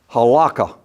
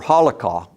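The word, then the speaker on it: halakha: be done according to halaka or holah if I'm pronouncing it right or rabbitic law. That word is spelled h a l a k ha.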